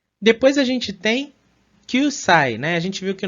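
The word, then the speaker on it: 九歳: 9 歳、 Kyusai. Vejam que ela prolonga bem, né? Esse U aqui final. Então fica Kyusai.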